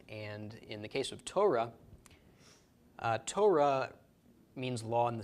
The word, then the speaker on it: Torah: So, Torah is how this is pronounced.